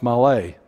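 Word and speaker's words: מלא: What's interesting, just a side note for those in English, it is actually spelled male, M-A-L-E in English, but it's pronounced malay.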